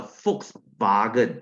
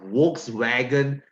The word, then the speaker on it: Volkswagen: okay so it's a folks bargain it's not a Volkswagen guys this word this word in German in German B is pronounced as f W is pronounced as V so it's a false